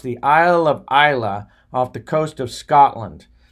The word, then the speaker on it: Islay: a man in Scotland on the Isle of ila it's pronounced ila spelled is la whaai when I first read it I thought it was the Isle of Islay but it's the is pronounced the Isle of ila off the coast of Scotland and I got